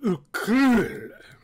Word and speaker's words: Uukrul: we go folks with the Dirk hurt of ooh Kumud that's how you pronounce it this is a game by Ian